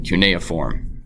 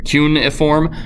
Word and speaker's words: cuneiform: Scribes were the people in charge of reading, writing, and keeping records in cuneiform, okay? What is cuneiform or cuneiform? Okay, cuneiform is how I've always heard it pronounced.